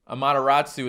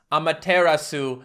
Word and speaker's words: Amaterasu: bit better amaterasu japanese so apparently amateratsu is pronounced amaterasu japanese or maybe just amaterasu i like a mataratsu